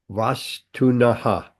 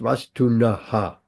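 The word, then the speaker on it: vastunaḥ: Not pronounced vastunaha. Otherwise, the whole flow and the meter goes all funny.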